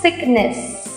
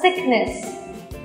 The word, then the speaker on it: sickness: Sick Sick ghê lắm bất cứ từ vận nào của mình cũng đều có s tức là âm đuôi vậy các bạn đừng bao giờ đọc như thế mà hãy đọc là sickness ok rồi đọc lại